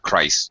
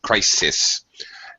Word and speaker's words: crisis: okay it's a crisis two syllable words not Christ but crisis and Society Society Society